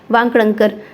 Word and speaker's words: वाकणकर: वांकणकर, थोड़ा सा प्रोनाउंसिएशन गलत हो जाता है, थोड़ा ध्यान रखिएगा।